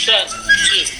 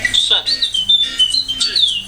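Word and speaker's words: 甚至: Oke, satu C ini bacanya shen zhi itu tulisnya SHN nada 4, shen zhi ZHI nada 4, shen zhi.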